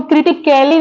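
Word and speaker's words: critically: बोलते हैं क्रिटिकली अब यहां पे आई ए स एल वाई है तो यहां पे जो ए है वो साइलेंट लेटर है उसको हम क्रिटिकली नहीं पढ़ रहे हैं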